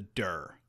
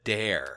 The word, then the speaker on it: Dare: The correct pronunciation of the title is not the Dur. Oh, okay. Well, then maybe the editor needs to do a better job. Oh, okay. I need glasses. Sorry. It's the Dare.